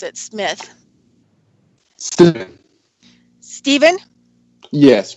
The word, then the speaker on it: Stephen: is it Stefan or Stephen how do you pronounce it Smith Stephen yes correct okay great so anyway so my